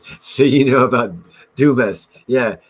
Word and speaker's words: Dumas: I did say dumbass but they call it Dumas Arkansas but it's spelled out dumbass Arkansas and from The Limited